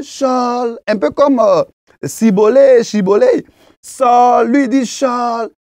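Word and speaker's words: shibboleth: Et au verset 6, pour identifier les effephraémites, les Galadites demandent de prononcer le mot chibolé, hein.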